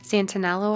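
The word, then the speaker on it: Santenello: a favorite YouTube channel Peter Santa anello I believe is how you say it and he has millions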